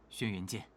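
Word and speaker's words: 轩辕剑: The proper pronunciation is Xuan Yuan Sword 7. Don't believe me? Listen to this short clip. 夫人，我找到了，轩辕剑，轩辕剑，轩辕剑。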